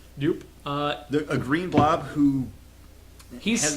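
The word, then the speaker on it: Doop: That's how you pronounce it. It's Dupe. Dupe.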